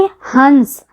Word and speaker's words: हंस: आप लोग उच्चारण करके हंस तो हंस में जो बिंदु है इसके ध्वनि ह से अलग बोले अर्थात जो बिंदु है वह ध्वनि ह से अलग ध्वनि विशेषता है इसे ध्यान रखिए यह